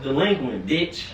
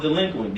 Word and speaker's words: DLEQUINT: your camera and say it's pronounced delinquent we